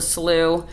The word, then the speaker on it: Slough: Mile Cypress Slough preserve yes it's spelled Slough but it's pronounced slew but spelled s-l-o-u-g-h so